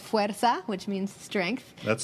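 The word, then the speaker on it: fuerza: book yes a book for women is called fera which means strength that's spelled f e r Za a if you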